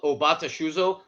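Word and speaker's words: 尾畑酒造: Can you pronounce it correctly for me? The brewery is technically called Obata Shuzo, their last name being Obata, but the brand they have always done is Manatsuru.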